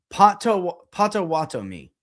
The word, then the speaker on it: Potawatomi: Or you're saying spread it out. Potawatomi. Like that. Say it like that. Okay. You ready? Potawatomi.